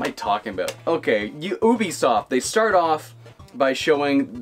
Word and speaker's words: Ubisoft: think next up was be soft or Ubisoft if you want to say it that way I'm pretty sure be soft is a correct like French pronunciation but everyone says Ubisoft I don't know French people say I've always said be soft I don't care don't